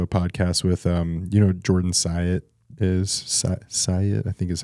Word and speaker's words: Syatt: just listening to a podcast with, Jordan Syatt Syatt, I think is how yes. you pronounce his name.